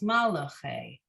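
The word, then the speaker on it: מַלְאֲכֵי: In the word in the refrain, it's malache, right? We give the we make it 3 syllables, malache. In this word, malache, in line 7, the third word, we are still giving it 3 syllables, not 4.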